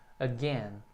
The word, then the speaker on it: again: Também tem duas sílabas, né? A sílaba, o A que fica sozinho e a sílaba tônica é a segunda, o gain. Então o A é bem curtinho, again.